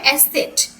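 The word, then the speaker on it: Eszett: হচ্ছে কি ক্লান্ত আর এসেট দিয়ে দিয়ে যে এসেট এখানে এটা কি এটা ডাবল এস বোঝায় এর উচ্চারণটা কি হবে এসেট এসেট স্ট্রাসের ফুস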